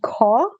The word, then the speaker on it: Caux: So, but the World Youth Forum, the one in Switzerland I spoke about, that's called CAW. They're operating, but they haven't done workshops since the pandemic started. That's spelled CAUX.